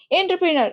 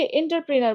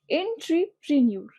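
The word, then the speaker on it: entrepreneur: এন্টারপ্রেনার, আমরা অনেকে এন্টারপ্রেনার বলে থাকি, বাট উচ্চারণটাকে ঠিক মতো করো, এন্ট্রিপ্রেনার। বা তুমি যদি অ্যাকচুয়াল যেভাবে বানানো হয়েছে সেভাবে করতে চাও, এন্ট্রিপ্রেনিউর, এন্ট্রিপ্রেনিউর, এন্ট্রিপ্রেনিউর, এন্ট্রিপ্রেনিউর, এভাবে উচ্চারণ করবে, প্রেনিউর। তাইলে দেখো এখানে কিন্তু টার না ট্রি, এটা আগে খেয়াল করবে, এবং নার না নিউর, এন্ট্রিপ্রেনিউর।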